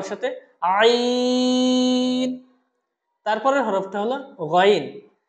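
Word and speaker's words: غين: গইন হরফটা উচ্চারণ হবে খ হরফটা যে জায়গা থেকে উচ্চারণ হয়েছিল সেই জায়গা থেকে, অর্থাৎ কণ্ঠনালীর উপরিভাগ থেকে। কণ্ঠনালীর উপরিভাগ থেকে আমরা বলেছিলাম খ, খ। ঠিক একই জায়গা থেকে উচ্চারণ হবে গইন। বলুন আমার সাথে, গইন।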